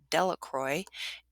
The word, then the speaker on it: Delacroix: jones and dicky delacroix the villagers pronounced his name delacroix eventually made a great